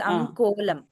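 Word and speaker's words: अङ्कोलम्: the first word I I slightly heard a ग प्रोनाउंसम कोलम इट इज अन कोलम अनकोम धन्यवाद otherwise it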